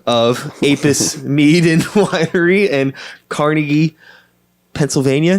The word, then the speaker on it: Carnegie: Do you say Carnegie or Carnegie? I say Carnegie. I don't know. I think Carnegie. The guy's name was Andrew Carnegie, but I've always heard that it's supposed to be pronounced Carnegie, but who knows?